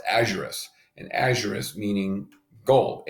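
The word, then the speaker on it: aurum: and so I believe gold a used is pronounced a Juris and a Juris meaning gold au and so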